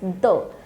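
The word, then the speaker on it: deux: one is a two is only though you do not have to pronounce x over here it's though so zero although this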